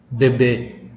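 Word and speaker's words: bebê: Cara baca seperti ini. Bebe.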